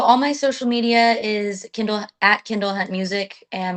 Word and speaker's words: Kindle: So, all my social media is Kendall @kendallhuntmusic and my name is spelled like the Amazon Kindle. Like the Kindle reader, k i n d l e.